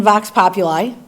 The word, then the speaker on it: Vox Populi: Because again, I'm reading about it in Vox Populi.